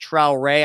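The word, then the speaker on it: Traoré: Traore is pronounced Traore. I think it's like French or Haitian or something like that.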